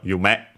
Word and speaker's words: 夢: good thing we did because it's actually accented on the last sy you met uh of course this